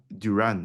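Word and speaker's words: Durán: John Duran, is that how you Mm. pronounce his name? Duran, John yeah.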